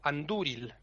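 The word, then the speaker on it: Andúril: Hay otro caso en el que la penúltima sílaba es fuerte. Cuando es larga. Aunque no lleve acento, o sea, aunque no lleve consonante después, Ujú. si lleva acento, si lleva tilde, perdón, es larga. Hay poquitos casos, pero algunos son, por ejemplo, el entari, Ujú. el emire o anduril.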